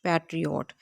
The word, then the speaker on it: patriot: ये देखें, ये है पैट, फिर ये री, फिर ये ओट, पैट्रियोट। इसकी प्रोनाउंसिएशन इस तरह से की जाती है। इसके 3 सिलेबल हैं।